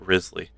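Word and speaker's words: Wriothesley: Oh, it Risley. God, that's okay. That's a fun way to like say his name.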